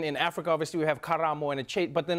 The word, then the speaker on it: Karamo: It's so weird because because in South Africa we have Karabo, and then in Africa obviously we have Karamo and a chait, but then like, and then people here are like Karamo.